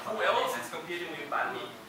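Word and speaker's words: bánh mì: How do you pronounce it? Banh mi.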